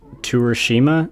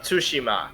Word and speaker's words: Tsushima: bad yeah alright so ghost of Torishima is that how you say it ghost of Tsushima Toshima coming out tonight's